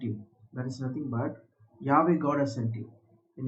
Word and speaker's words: Yahweh: word to be and is pronounced similar to I am. So I am has sent you. That is nothing but Yahweh God has sent you.